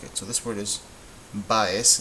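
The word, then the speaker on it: Báez: Which syllable is louder, the ba or the es? Baez. Baez is a grave word.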